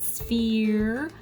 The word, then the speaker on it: sphere: The F, the PH in sphere, makes an F sound. The E was right, sphere. The R was right, and then there's a silent letter at the end of the real word sphere.